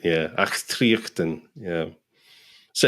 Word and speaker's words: Achtriochtan: Yeah, Achtriochtan. Achtriochtan. So yeah, it's got a very Scottish guttural sound to it. Yeah, Achtriochtan.